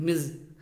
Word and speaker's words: Ms: कि मैरिड होती है, और ये जो वर्ड है इसको हम बोलते हैं मिज, MIZ, प्रोनाउंसिएशन जो होगी उसकी ये होती है मिज।